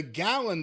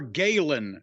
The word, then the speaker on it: Galen: wait a minute the how do you spell that g a l n okay that would be more Galen Center than gallon C like a gallon of milk isn't that how you